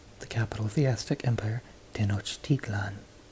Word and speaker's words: Tenochtitlan: capital of theistic empire Tenochtitlan ten notch teat lon did not steeped learn see how the second to last syllable goes up in tone and then falls back down so we're going to